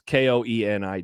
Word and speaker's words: Koenig: Is it Mark Koenig or Koenig? I think it was. It's Koenig.